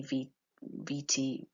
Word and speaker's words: curriculum vitae: So a curriculum vitae, and here you've got the pronunciation underneath here, curriculum vitae. In the US they say VT, I think, yeah.